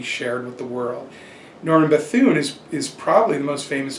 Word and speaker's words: Bethune: I'm not sure how to pronounce Norman his name. Bethune. Yeah. Well, Norman Bethune is another great story.